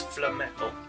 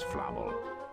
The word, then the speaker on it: Flamel: gathered information about nicholas flemetal she says his name wrong that nicholas flammel the wizard that hagrid